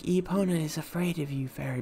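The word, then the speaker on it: Epona: name is eona did I say that right eona yes eona you pronounced it correctly okay is she cute okay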